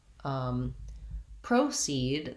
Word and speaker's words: proceed: Then when we get to proceed, the noun, we have first syllable stress, which is marked here with a little line before the stress syllable. And in this case, the O actually says the O diphthong in American English. So we're going to be long on proceed, and we'll still have that same clear vowel in the second syllable.